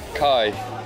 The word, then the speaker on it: Kai: Kai. Kai. That rhymes with Guy.